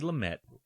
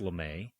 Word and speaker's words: Lumet: Uh, Randall thinks it's Lame, but Al Pacuccino calls him Lamett. I'm hearing it both ways, but I think Lamett gets it. I've never heard it pronounced Lame.